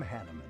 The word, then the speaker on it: Hanneman: Hanuman? Hanuman. I am Hanneman, a Hanneman. Crest scholar and professor Thank at the God they Officers' pronounced Academy.